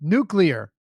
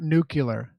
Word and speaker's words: nuclear: say he could go nuclear nucular nuclear not nucular comment come and misspeak